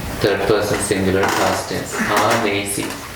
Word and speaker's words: anesi: Anesi. A with long A. N-E-S-I. So the full sentence then is Adhipati Girimha Sihang Anesi. Any other way to put it? Adhipati Girimha Sihang Anesi.